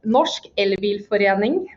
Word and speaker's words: Norsk elbilforening: It's pronounced Norsk Elbilforening.